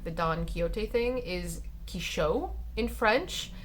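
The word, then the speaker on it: Quichotte: His way of being taught how to pronounce like the Don Quixote thing is Quichot in French, because they don't use the X, they have CH instead, and I thought that was interesting.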